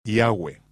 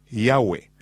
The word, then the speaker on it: Yahweh: Yo pronuncio su nombre, Yahweh. Josefo dijo que había cuatro vocales sobre la mitra del sumo sacerdote, Yot, he vabb, que son pronunciadas como vocales en un solo respiro, Yahweh, fluido, Yahwe.